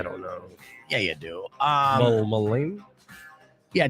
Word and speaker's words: Dylan Mulvaney: Mullaney? Yeah, Dylan Mulvaney.